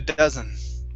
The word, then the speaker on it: dozen: here okay first up a dozen instead of a doe it's a a dozen a dozen very nice next up